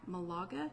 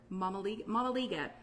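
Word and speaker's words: mămăligă: called, I'm not going to say it right, Malaga? No, Mamaliga.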